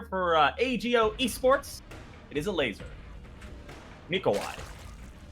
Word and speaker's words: Elazer: ago Esports it is a laser nikai love that laser I believe is the correct pronunciation say say it one